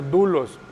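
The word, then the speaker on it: δοῦλος: siervo, es la palabra, se escribe doulos, se pronuncia doulos, ¿sí?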